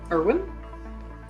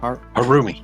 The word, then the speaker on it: Harumi: Erwin? No, Harumi? Harumi, yeah.